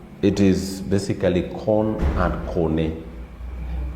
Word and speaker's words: kone: Kone. Kone and corn. It is basically corn and kone. In English, we pronounce it as corn, but in the Luo, it is kone.